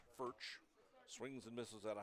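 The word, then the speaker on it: Foet: fch the third baseman fch spells his name f o e t pronounced fch swings and misses out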